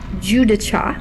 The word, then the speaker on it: Guidice: of a toal colony Rick G dice or in true Italian it should be pronounced Juda was a NASA Affiliated